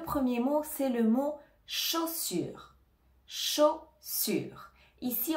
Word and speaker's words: chaussure: mot chaussure chaussure ici on a le CH qui donne le son che le a et le U vont donner le son o comme le O en français chaud sur attention on ne prononce pas le E à la fin de chaussur on ne dit pas chaussure on dit chaussure donc ici tu dois bien prononcer le U en français le U la langue